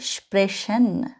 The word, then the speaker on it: sprechen: আমি এখানে একটা বলেছি স্প্রাখেন, আবার বলেছি স্প্রেশন। এক জায়গায় আমি খ উচ্চারণ করেছি, সিএইচ এর উচ্চারণ যেটা সিএইচ, আরেক জায়গায় আমি স উচ্চারণ করেছি, ঠিক আছে? মনে রাখবেন, যদি কখনো আপনি সিএইচ এর আগে এ, ও অথবা ইউ দেখেন, তখন আপনি খ উচ্চারণ করবেন।